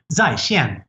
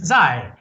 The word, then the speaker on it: 在: those two characters for chinese online which is pronounced zai now they literally read the word say and